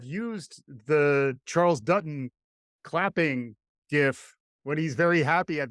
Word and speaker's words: GIF: You are not allowed to use the GIF. It's a GIF. I thought we talked about this. I'm a hard G. You're a hard G kind of guy.